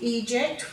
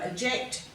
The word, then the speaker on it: eject: each of those words same goes for the e here it should be eject we tend to give it a schwa we go eject elope emerge escape effect whereas this should be a long e sound here escape escape and